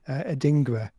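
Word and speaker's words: Adingra: him differently aren't we adinga is the pronunciation but it's okay um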